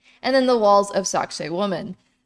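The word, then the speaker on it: Sacsayhuamán: And then the walls of Sacsayhuaman. My pronunciations are always bleh, but I've been told that it sounds like sexy woman.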